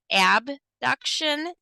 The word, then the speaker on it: abduction: Now let's look at abduction and adduction. I like to pronounce them that way just because it's the only difference is one letter, abduction versus adduction.